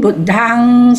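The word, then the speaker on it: Buddhaṃ: M with a dot is NG. Okay? Okay. Sister? From the beginning, Buddhang Saranang Gacchami.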